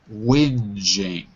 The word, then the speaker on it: whinging: Pronunciation is whinging. Whinging.